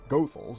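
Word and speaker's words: Goethals: prepared the infrastructure it was actually George Washington gothal that's how the family says you pronounce that last name who was brought in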